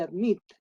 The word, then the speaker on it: admit: En el caso de admit, hay que ver dónde está la fuerza tónica. ¿Se pronuncia admit o admit? Admit. Entonces la fuerza tónica está en la última sílaba.